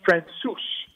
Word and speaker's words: Francouz: La seule fois que je sais sur Francouz, comme tu dis, c'est que ça se prononce Francouz.